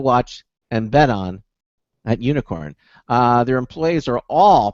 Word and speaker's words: Unikrn: to be talking to unicorn now it's spelled un I krn not the traditional way for for you spell unicorn but it's pronounced unicorn and this is an